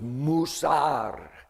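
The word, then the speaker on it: מוסר: The Hebrew word is musar and it means not just instruction like someone talking to a class.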